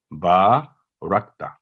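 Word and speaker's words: بَارَكْتَ: آگے ہاں جی، با رکتا، تو یہ کاف جو ہے باریک حرف ہے، تھن لیٹر ہے، تو با رکتا نہ ہو، یہاں کرکلا نہیں ہونا چاہیے، یہ جنبش نہیں ہونی چاہیے کاف کو. با رکتا اس کا صحیح تلفظ ہے با رکتا.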